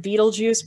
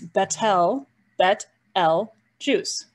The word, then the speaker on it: Betelgeuse: here is called betelgeuse i know many people pronounce it beetlejuice but it's bettel bet l juice this one right here is called rigel notice